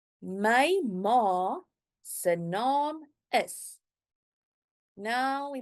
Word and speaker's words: ma: In Afrikaans, it is ma. Ma. So see, a very short word, M-A, but the sound of the A is very long. It's not ma, it's ma.